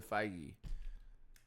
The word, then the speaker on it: Feige: It's You can see how I could have thought it was like pronounced differently. Fei. Feige. Kevin Feige.